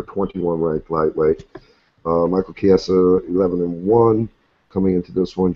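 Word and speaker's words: Chiesa: Asian people to me when I see Chi I'm thinking CH Tom oh that's sister number eight you know I think it's pronounced K yeah it's k is K yeah so Michael kiasa versus Joe L on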